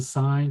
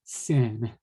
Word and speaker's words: sine: and it's called sine you pronounce it as like a road sign okay but as a in terms of a symbol you write it s-i-n you do not want to pronounce that as sen okay people might laugh